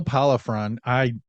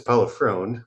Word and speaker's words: Pollifrone: There's no way I pronounced that right. But we're gonna bring him in. William, all the way from Florida. How are you doing? I'm good. You were close. It's Pollifrone, but it's pretty close.